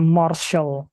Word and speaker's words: martial: itu martial art Oke martial art tulisannya Tapi bacanya Marshall ya maral alr How about